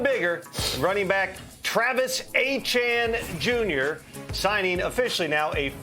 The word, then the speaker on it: Etienne: Not ETN, not ATN, Achan.